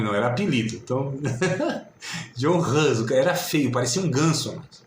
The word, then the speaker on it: Hus: não é não, John Hus, né? A pronúncia talvez seja mais adequada, John Hus.